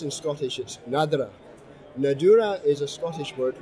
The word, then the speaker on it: Nadurra: is a favorite of mine it's called nadareh pronounced in scholarships nadira nadiya is a Scottish word which means natural